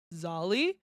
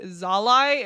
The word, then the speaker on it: Zali: And also, there will be no discussion about how to say his name because it's just Zali. I don't know anybody who would read it and say Zalai, in which case, what